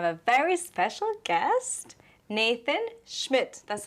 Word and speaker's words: Schmid: Ladies and gentlemen, welcome to City of Confidence TV, and today we have a very special guest, Nathan Schmidt. That's how you pronounce it?